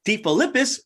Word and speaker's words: DeFilippis: Today, I'm joined by Christine DeFilippis of PotFit Studio.